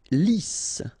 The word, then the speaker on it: Lisse: Lisse. Double S here, so it's really a strong S.